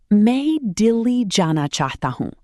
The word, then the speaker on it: मैं दिल्ली जाना चाहता हूँ: मैं दिल्ली जाना चाहता हूँ. मैं दिल्ली जाना चाहता हूँ. That's, I want to go to Delhi. Pronounce it, मैं Delhi जाना चाहता हूँ.